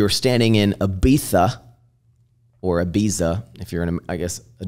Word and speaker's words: Ibiza: standing in Ibiza, or Ibiza, if you're in, I guess, a dumb American. How do you say it? Ibiza, apparently. Like, Ibiza. But I always go Ibiza.